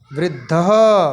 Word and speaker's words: वृद्धः: वृद्धः, इसको सही उच्चारण करिए, वृद्धः।